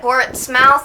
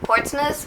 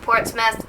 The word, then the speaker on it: Portsmouth: myself cuz I said ports mouth instead of Portsmith which the area where we went is actually pronounced Portsmith not Portsmouth yeah and there is